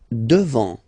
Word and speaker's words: devant: Devant. Final T not pronounced.